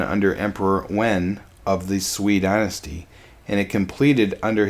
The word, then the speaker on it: Sui: It is pronounced Sui, not Sway.